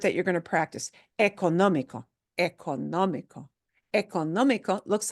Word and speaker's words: económico: Oh, still sounds like the basic sound doesn't change, but the syllable that gets harder punch, harder stress, more stress is this sound. Therefore, it carries an accent mark. Económico.